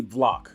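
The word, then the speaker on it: BVLACK: end line called black it's really block because it's bvla ck the v is silent somewhat silent um and then i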